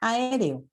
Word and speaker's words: aéreo: Hace rato yo les mencioné la palabra aéreo. Bueno, lo normal en la separación de sílabas sería aéreo. Esta es la forma correcta. Pero con la sinéresis yo puedo decir aéreo. Esto me permite la sinéresis.